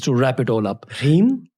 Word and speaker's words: Hri: Hri? Hri. H-R-I, Hri.